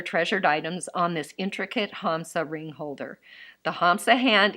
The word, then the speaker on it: Hamsa: It says Hamsa, H-A-M-S-A. I've heard it pronounced different ways, like I've even heard Hamasa and that kind of thing, so I'm not quite sure.